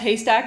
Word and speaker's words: HASTAC: intro to hurting nerds um so hyack is pronounced hastac as in Needle in the um and uh